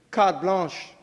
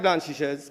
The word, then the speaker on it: carte blanche: When it comes to them and their family, hey, carte blanche. Carte blanche. Not like blanchishes. Some people can't spell that. It's carte blanche.